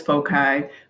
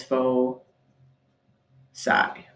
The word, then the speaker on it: foci: and the plural is foci it looks like it says foci but you pronounce it as fo psi so each of the